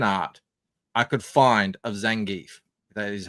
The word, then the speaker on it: Zangief: And I tried to find this is the worst fan art I could find of Zangief. That is how you pronounce it.